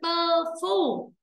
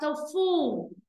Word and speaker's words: tofu: Không phải là tơ phu. Mà là tofu. Âm này là âm ơ u. Âu âu âu.